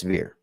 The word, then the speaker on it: Ver: am I I'm he's he told me how to say his last name and now I'm questioning is if it's a ver or ver it's ver it is ver I was thinking over but it it is ver so Roger ver